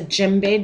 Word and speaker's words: djembe: And then I looked up, this is a djembe drum.